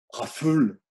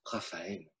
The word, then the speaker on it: Raphaël: qu'on appelle le tréma par exemple dans le prénom enfin elle est bien si g simple jeu doit prononcer raffle ou rafale le fait d'écrire le petit trimaran je prononce raphaël car le tréma veux dire ici exceptionnel exceptionnellement un plus un égale 2 repas et plus loin